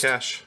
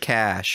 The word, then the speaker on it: cache: said clear your cache is that how that's pronounced cash no I've always just said cash Cas is like a different cash is the